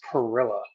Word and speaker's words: Perilla: bio that I never asked how to pronounce his last name. No worries, no worries. Pirila. Perilla.